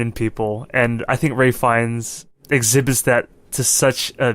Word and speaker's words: Ralph Fiennes: Ray Fiennes or Ralph Fiennes? Ray Fiennes. Ray Fiennes. Fuck. I know. It's also obnoxious because his name is spelled Ralph.